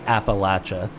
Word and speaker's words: Appalachia: the entire Appalachia area and yes it is Appalachia um I know Ryan hayatt messaged me earlier today and said how do you pronounce that Brad and I said well it's